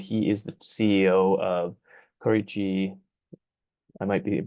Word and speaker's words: Korechi: Okay, so yeah, we call Korechi Innovations Inc. You pronounce it right, Aaron.